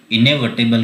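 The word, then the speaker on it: inevitable: ओर, जिसका नाम है इनविटेबल। इनएविटेबल जिसे हम बोलते हैं, यहाँ पर प्रोनाउंस भी दिया गया है, इसे हम बोलते हैं इनएविटेबल। इनएविटेबल का मतलब होता है अपरिहार्य।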